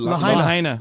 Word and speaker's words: Lahaina: Lahaina.